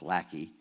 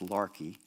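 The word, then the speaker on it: Laki: the way it's spelled it looks like Lackey l-a-k-i but it's pronounced Larkey and Larkey you remember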